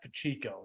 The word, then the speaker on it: Pacheco: combined yards touchdown that his name's a mind because like that's pachico why do they pronounce Pacheco I don't understand but